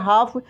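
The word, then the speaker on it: half: इसी का पस्त फॉर्म इसको पढ़ेंगे हाफ यहां पे एल साइलेंट रहेगा क्या रहेगा एल साइलेंट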